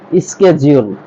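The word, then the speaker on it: schedule: এটাও কি orient next এটাকে আমরা শিডিউল বলতাম এটা শিডিউল হবে না এটা হবে স্কেজউল এটা হবে স্কেজউল যদি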